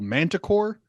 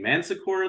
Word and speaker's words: Manticore: ring comes in called manticore and I kept thinking man sakur I thought they were saying man Sakura the whole yeah well they kept like